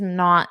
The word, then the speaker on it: know: So it's just by silent I mean when you say it, just pretend it is not there. So if I were spelling it phonetically, I wouldn't even include it.